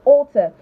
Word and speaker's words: alter: So alter and alter, same pronunciation, alter.